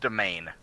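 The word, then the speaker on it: demesne: Okay, so the basic Dezn pronounced domain, but it's spelled Dezn. Yes, it is in fact pronounced domain.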